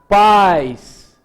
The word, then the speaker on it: pais: conheci um país então há uma diferença na pronúncia vejam que aqui é pais e a outra é país vejam que neste caso aqui eu tenho um I intenso a tonicidade da palavra tá no i eu falei a uma